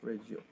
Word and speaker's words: Reggio: But yeah, it's spelled Reggio. Yeah, Reggio.